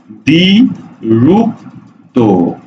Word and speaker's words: দ্বিরুক্ত: দ্বিরুক্ত শব্দের উচ্চারণটা কি দ্বিরুক্ত শব্দের উচ্চারণ হলো দ্বি রূপ তো অর্থাৎ দ্বিরুক্ত শব্দের উচ্চারণ